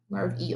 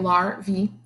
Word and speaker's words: larvae: caterpillars grubs and maggots are larvae lurvy like that it tells you how to say it larvae they have long bodies